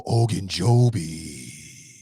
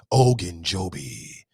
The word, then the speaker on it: Ogunjobi: Even though Ogunjobi. You got to say it like that. If you don't say it like that, then you disrespecting that man. Ogunjobi.